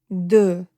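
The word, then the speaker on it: deux: Though is when your lips are round as if you are uh saying the letter o.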